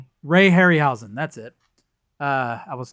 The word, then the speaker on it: Ray Harryhausen: Uh, uh, Harry Henhausen, however you pronounce his name. Harryhen. Ray Harryhausen.